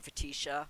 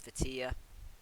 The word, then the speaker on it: Fetia: Oh, who also, I've been mispronouncing her name. I've been calling her Fetisha, and I found out her name is Fetia.